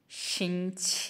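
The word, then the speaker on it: 星期: शिछ ये first tone के साथ है दोनों। इसलिए इसको लाइट हमने प्रोनाउंस करना है।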